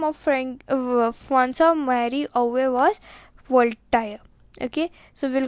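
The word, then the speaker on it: François-Marie Arouet: Original name was Francois Marie Arouet. Now if you read this pronunciation by going word to word, it will be Francois Marie Arouet, but it is not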